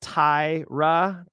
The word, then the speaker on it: Taira: It's pronounced Taira.